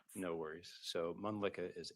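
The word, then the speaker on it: Mölnlycke: because it's kind of hard to spell and pronounce? No worries. So, Mlicka is M O L N L Y C K E.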